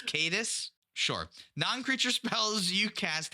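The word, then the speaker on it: Caetus: it flips it's now cadius see Tyrant of Segovia cadis I was so proud I was like I haven't mispronounced a word yet but it's cadis sure non-creature spells you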